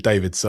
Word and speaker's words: Davids: I've noticed he pronounces it David, so I probably should say Davids.